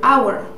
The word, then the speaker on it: hour: For example, I have right here hour. We see an H, right? But we hear a wall sound. Oh, hour, right?